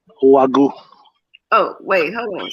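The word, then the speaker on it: Wagyu: to a couple of text messages bad it's pronounced wagu oh wait hold on say it again gotta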